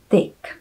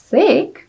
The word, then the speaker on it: thick: A jak určitě už sami uhodnete, tak jsem toto slovíčko vyslovovala jako tick. A tick v americké angličtině znamená klíště, zatímco thick znamená buď tlustý, anebo hustý.